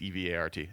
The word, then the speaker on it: Evart: It's not Everett. It's Evart.